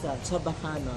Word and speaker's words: Chabacano: linguists spell it away, but I think if you observe us when we speak, that's basically how we pronounce. We don't say Chaba.